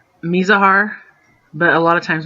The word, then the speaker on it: Mizahar: And sometimes I get my pronunciations a little confused too, so don't worry about it. Anyways, it's Mizahar, but a lot of times we say Miz when we're just shortcutting it.